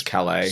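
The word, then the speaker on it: Sasha Calle: I don't know how to pronounce her surname, unfortunately. It seems it's Calais.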